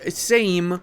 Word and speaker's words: Sejm: And boys, we now have the Parliament of Poland available, the Polish Sejm, because apparently J in Polish is pronounced as I. Who would have thought?